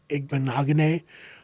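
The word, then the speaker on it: Igbinoghene: rowe they have uh noah igbonagone i believe is how it's pronounced no if you ever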